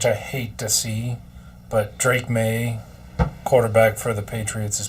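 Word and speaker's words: Drake Maye: It's actually pronounced Drake May.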